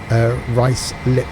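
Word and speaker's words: Ruislip: crash after crash is up because of 11.35 rice lip exactly yep is it White's little would still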